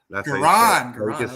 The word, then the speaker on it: Goran: How do you pronounce it? Bro. It's Goran. That's Goran.